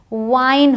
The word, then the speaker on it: wine: अब जब आई हो और ई लास्ट में हो तो ई तो साइलेंट है और लॉन्ग आई का साउंड है। अब ई का साउंड नहीं है, अब आई का साउंड है। तो WIN विन होता है, बट WINE वाइन होता है।